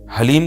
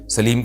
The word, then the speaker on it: حلیم: سبحان اللہ، یہ محرم میں لوگ حلیم بنائیں گے تو کچھ حلیم کو دلیم کہہ رہے ہوں گے، کچھ سلیم کہہ رہے ہوں گے، کچھ وسیم کہہ رہے ہوں گے.